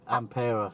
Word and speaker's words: Ampera: Ampera.